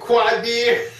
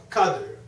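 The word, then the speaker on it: Qadir: Well, it's Furqan and or Qadr or Qadr. It's a Ka sound, but we didn't know no better.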